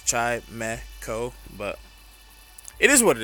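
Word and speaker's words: Chimecho: Some people call him Chimco, which is it's Chimeco, but it is what it is.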